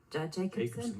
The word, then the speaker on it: Jacobsen: Jacobsen. Yeah, Brandon Jacobsen. I pronounced that like a Norwegian would pronounce it.